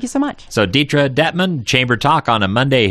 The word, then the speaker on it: Dettmann: It's Detra Detman. Yeah. Not Detra Dietman.